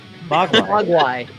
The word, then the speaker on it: Mogwai: how's it supposed to be pronounced? Mogwai.